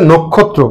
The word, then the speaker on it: নক্ষত্র: নক্ষত্র, সঠিক উচ্চারণ হচ্ছে নক্ষত্র। কেন হবে? এই যে নয়ের সাথে ও আছে এবং পরবর্তী বর্ণটি আছে ক্ষিয় খ। ক্ষিয় খ থাকার কারণে নটা অ আছে, ওটা ও হয়ে যাবে, বিবৃত ছিল সংবৃত হয়ে যাবে।